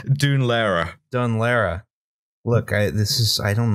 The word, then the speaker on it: Dún Laoghaire: Is it Dun Laguerre? Dun Laoghaire.